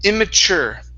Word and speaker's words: immature: At the end here, instead of chur with an ur sound, use an er. Okay. This is immature.